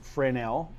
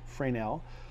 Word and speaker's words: Fresnel: right for now zone spelled Fresnel zone but pronounced Fran L Fran L actually named for a physicist that kind of